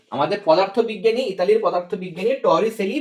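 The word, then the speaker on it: Torricelli: এবং এই যে আমাদের পদার্থবিজ্ঞানী, ইতালির পদার্থবিজ্ঞানী টরিসেলি, বা তোমাদের বইয়ে বানানটা রয়েছে যেটা, সেটা হচ্ছে টরিচেল্লি, টরিচেল্লি।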